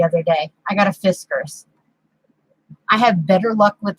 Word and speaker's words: Fiskars: I got a Fiskars. I have better luck with the, Fiskars. You have to say Fiskar.